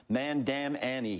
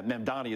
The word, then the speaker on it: Mamdani: Especially when you have, how do you pronounce his name again? Sharpton called him Mandam Annie. He added nine letters to the guy's name. It's it's remarkable. Yeah, Mandani is the correct way.